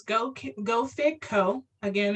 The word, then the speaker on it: Geaux: And just so you know, Go is spelled Geaux. It's the French spelling of go.